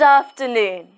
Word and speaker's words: afternoon: So, during this time, we say good afternoon. Good. G-u-d. Good. Afternoon. Af-ter-noon. Afternoon. Pay attention to the f sound. Af. Af. Afternoon. In this word, the stress is on noon.